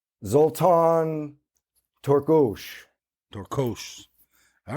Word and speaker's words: Torkos: How do you say it with the Hungarian accent, not the American accent? Zoltan Torkos. Torkos.